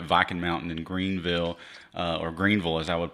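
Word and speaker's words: Greeneville: You've got Viking Mountain in Greenville, or Greenville as I would pronounce it actually.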